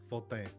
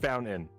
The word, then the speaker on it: Fontaine: Cultured Leffert, we're going to give you Just Fontaine. Oh my god! What? You have to say it with a French accent. I'll try. All right. Just Just Fontaine.